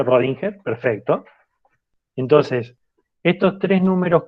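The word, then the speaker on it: Schrödinger: científico y the rolling y que es escribir singer y se pronuncia rodinger perfecto entonces estos tres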